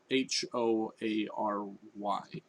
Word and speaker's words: hoary: it's not a core a quarry it's a it's spelled h-o-a-r-y i'm gonna look it up here h o